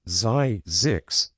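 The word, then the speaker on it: Zzyzx: Yes, that's a real place pronounced Zyzix, though many fumble it.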